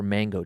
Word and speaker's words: mango: Now, the auditorium where they were all meeting had screen windows, and the trees surrounding it we pronounced them mongo trees. They were mango trees, right?